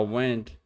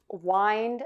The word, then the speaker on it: wind: They're spelled exactly the same way, but they have different meanings and different pronunciations.